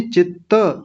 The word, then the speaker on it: चित्त: योगश चित्त, चित्त वृत्ति, चित्त नहीं चित्त, त पूरा है अंतिम वाला, दो त हैं इसमें।